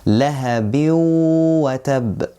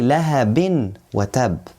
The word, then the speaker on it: لهب وتب: So we don't say lahabin wa tab. No. Here, there is waw.